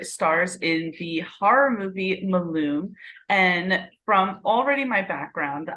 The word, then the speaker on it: Malum: It's Malum.